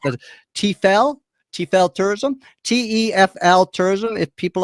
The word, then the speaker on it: TEFL: And I believe the acronym is pronounced TEFL.